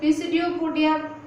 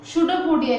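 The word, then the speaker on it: pseudopodia: देखिए, पी इधर साइलेंट है, इसे गलती से भी पिसिडियोपोडिया मत बोलना, प्रोनाउंसिएशन शूडोपोडिया कीजिए, ठीक है।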